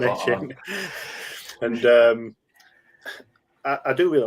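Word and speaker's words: Achane: Or I know Rich made a joke in our thing where he thought it was acne, but it's not. It's not. That's not how you say it. It's Devon A-Chain.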